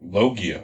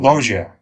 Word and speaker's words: Loggia: Robert Loggia, right? Is that how you pronounce his name? Loggia.